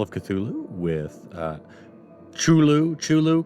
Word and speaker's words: Cthulhu: chulu chulu cthulhu whichever i think it's kind of debatable with the how it's pronounced um i know on smite uh it's pronounced shulu and i've heard cthulhu from a lot of people so i mean i